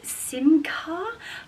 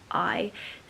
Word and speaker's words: Simkhai: So this is a brand called Simca. Hopefully I'm pronouncing that correctly. It's Simkhai. Simcaille.